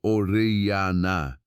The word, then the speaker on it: Orellana: The expedition was led by a conquistador named Francisco de Orellana, pronounced Orellana, and it was by any measure a nightmare of hunger and desperation.